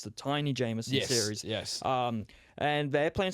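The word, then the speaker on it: Taini Jamison: game of the season, and I believe it's pronounced Tiny Jameson. So I thought it was Tammy for some reason, but no, it's the Tiny Jameson series.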